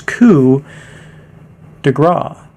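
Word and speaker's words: coup de grâce: that was spelled incorrectly so it's ku de gra that is how you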